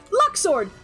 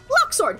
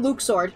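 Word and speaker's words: Luxord: who all agree that the pronunciation for Luxor is wrong I'm sorry luck sword luck sword it sounds better number one it rolls off the tongue a lot better than Luke sword number one number two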